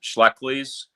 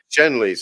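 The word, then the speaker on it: Schenley's: He had, I think, is it pronounced Schleckley's? There's the four big liquor companies. It's Shenley's, I think.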